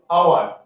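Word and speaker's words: hour: या मैंने लिखा एन आवर एन एग, क्योंकि ये एच से शुरू हुआ, लेकिन हम लोग कैसे प्रोनाउंस करते हैं, आवर, इसीलिए एन है, एग ई एन।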